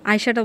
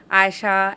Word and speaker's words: আয়শা: অনেকভাবেই বলা যায়, বাট আয়শাটা আপনার কিরকম পছন্দ? আমি যদি আজকে আপনাকে বলি যে ধরেন যখন কেউ ডাকে আয়েশা, এই আয়েশা, হ্যাঁ না, আয়েশা, এইভাবে না। আয়শা কোন নামের ভাবে? উচ্চারণটা হবে আয়শা।